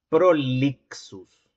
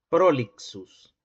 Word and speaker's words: prolixus: Fíjate, esta X desde el punto de vista fonológico, remite a la secuencia de dos segmentos, el oclusivo velar sordo y el fricativo alveolar sordo.